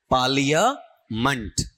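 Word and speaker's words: parliament: जो वर्ड है ना इसका उच्चारण लेना आपका पालिया मंट।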